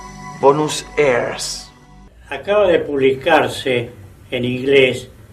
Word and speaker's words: Buenos Aires: el extraño nombre de Buenos Aires, que ellos pronunciaban Bonus airs.